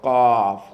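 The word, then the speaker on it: ق: When you say the cough, there has to be of necessity. There has to be a click in the back of the throat. Like something dropped in the back of your throat when you say it off.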